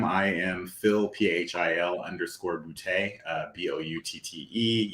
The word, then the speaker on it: Boutte: am Phil p-h-i-l underscore bootay uh b-o-u-t-t-e yes my last name is bootay if it's not funny you're not saying it right that's probably the easiest